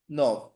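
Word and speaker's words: neuf: সো নোফ মানে হচ্ছে nine বা নয়, নোফ মানে নাইন বা নয়, উচ্চারণটা কি হবে নো নো। নভ।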